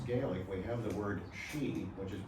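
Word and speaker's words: sidhe: In Irish and in Scots Gaelic, we have the word she, which is pronounced as spelled s i d h e,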